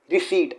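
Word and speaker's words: receipt: रिसीट again इसमें पी को silent किया जाता है, इसे पी को साइलेंट किया जाता है, तो ये है रिसीट।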